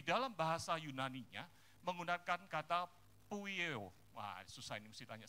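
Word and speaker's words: ποιέω: Kata berbuat ini di dalam bahasa Yunaninya menggunakan kata poieo. Wah susah ini, mesti tanya sama Bu Clara ini, bacanya gimana?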